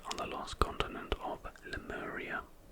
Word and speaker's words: Lemuria: the lost continent of Lemuria. If you think the name Lemuria sounds like the word lemur, then you would be correct.